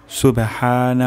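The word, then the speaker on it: سبحان: তাহলে রুকু তাসবিহ হলো সুবহানা রব্বিয়াল আজিম প্রথম শব্দটি হলো সুবে সুবে সুবে প্রথম শব্দটি হলো সিন সুবে সুবে হানা হা উচ্চারণ হবে গলার মাঝখান থেকে সুবহানা তারপর শব্দটি হলো রব্বিয়াল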